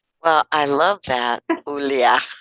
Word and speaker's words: Ioulia: because that's it's eah that's how you say Julia in Greek but by the way